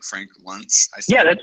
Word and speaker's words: Luntz: Frank Luntz, that's how you say his name, isn't that right? Frank Luntz.